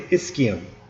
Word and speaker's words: ischium: and the ischium okay the ch sounds like a k so make sure you say ischium so ilium ischium pubis